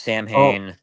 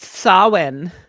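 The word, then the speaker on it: Samhain: one when Halloween was forever when they introduced Sam hay yep that was awesome it's pronounced Sinn yes it is s or as JMS said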